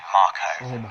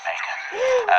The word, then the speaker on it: Mako: This is a Mako reactor, Dave, officially pronounced Marco. Right, I've always pronounced it Mako. Officially it is Marco though, and you can